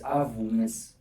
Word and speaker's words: Avuyile: It's Avuyile and science.